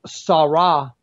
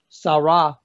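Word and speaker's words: צרה: The word trouble is a Hebrew word, 6869, and it's pronounced sarah, sarah.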